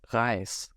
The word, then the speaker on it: Reis: The next pronunciation is S, so equivalent to English S, and the example word given here is Reis.